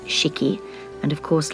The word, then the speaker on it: 式: Japanese character here meaning ceremony or ritual it's pronounced cheeky and of course like all Japanese characters it